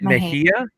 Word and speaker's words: Mejia: always want to say is it mejia yeah and i think i said like yeah or something i said